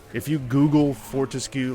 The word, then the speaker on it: Fortesque: Which, like, if you Google Fortescue, like how to pronounce it, I guess Fortesque might technically be it.